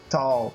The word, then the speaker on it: Tull: Aqualang da banda Jetro Tal. Eu não sei se é assim que pronuncia. Jetro to. Jetro Tal é to como ferramenta.